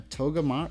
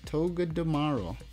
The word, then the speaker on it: Togedemaru: A Togemar. A Togedemaru.